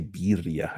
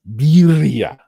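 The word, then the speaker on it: birria: I always say beria. I say it wrong. Sorry to you uh native Spanish speakers. Birya.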